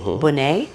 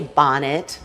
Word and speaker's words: Bonnet: you i'm well rico my name is bonnay b-o-n-n-e-t not like lisa bonnet a little different like the butter it's like the butter yeah or some people will say bonnet yes depends on where you're from exactly so